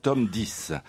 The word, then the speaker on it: Tom Dice: Ouais, là, c'était, non, mais ça se prononce Tom Dice.